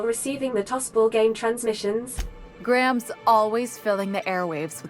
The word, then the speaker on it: Graham: what this propaganda is Graham Graham Graham that's two syllables